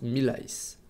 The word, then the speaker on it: Millals: qu'il est assez difficile ça se prononce mille ice hockey on arrive sur